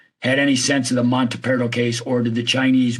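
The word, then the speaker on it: Montaperto: So if the Chinese were interested in I'm sorry, how do you pronounce his name? Monteperto. Monteperto.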